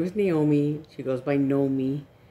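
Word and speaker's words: Gnomee: She goes by Nomi. She's always gone by Nomi, you know, when we were kids. And, but, so for online, so she spells it this way, with a G.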